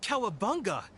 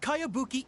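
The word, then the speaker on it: Kayabuki: really strange name who's this cowabunga it's pronounced kaiabuki ek that would be me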